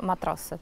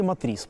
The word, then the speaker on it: Matrice: — Вы используете Mavic 3, FPV и еще "Матрасы", да? — Matrice. «Матрасы» их называют… когда-то мы… вы знаете, в Херсоне их назвали «Матриксами», почему-то. Потом, так в обиходе, «Матрасы», а вообще Matrice правильно говорить.